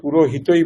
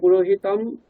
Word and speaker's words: পুরোহিতম: শুনেছি কিন্তু কেউ কেউ পুরোহিতই বলছেন তো কোনটা ঠিক? দেখুন এখানে পুরোহিতম যে অনুস্বারটা রয়েছে হ্যাঁ এই অনুস্বারের পরে যখন ইকার থাকে অনুস্বার গুলো অনুনাসিক ইকার হয়ে যায় ঠিক আছে?